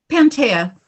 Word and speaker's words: Panttaja: a Portland artist, and a member artist, Panttaja, who is, am I pronouncing your name correctly? Panttaja. Yeah. Panttaja.